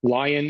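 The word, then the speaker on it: LAION: lion 5B data set lion is spelled l a i o n not lion as in as in large carnivorous cat uh and it was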